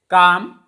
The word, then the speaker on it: calm: Next is calm. L is silent before M.